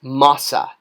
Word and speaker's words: masa: All right, so we have MR, owl, mouth, mer, and this determinative actually does have a pronunciation. It's a rare one. That is masa.